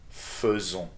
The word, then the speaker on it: faisons: Nous faisons. So we've seen before that the combination of a and i together is supposed to be pronounced as e. But in this verb, it is an e that needs to be done.